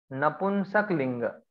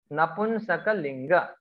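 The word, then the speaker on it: नपुंसकलिङ्ग: Then it is napunsak linga. See, many people pronounce this Napunsaklinga differently, but Napunsakalinga, neuter gender.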